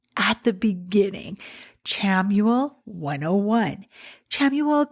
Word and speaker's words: Chamuel: Chamuel can also be pronounced Samuel.